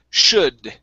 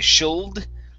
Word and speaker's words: should: we have the word should in this word the l is silent so we don't say shield the l is silent we say should should okay good um here